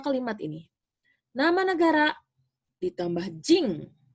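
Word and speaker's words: 人: Nama negara ditambah jing. Ini dibacanya jing ya, ditulisnya jin, tapi dibacanya jing des ya.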